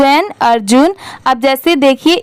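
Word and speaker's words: Arjun: अर्जुन अब जैसे देखिए इस नेम में भी ए आर की क्या साउंड आती है अर की आती है और जे यू एन क्या होता है जून अब इन दोनों को जब साथ में मिला देंगे तो अर्जुन ऐसे करके आप इजली इसकी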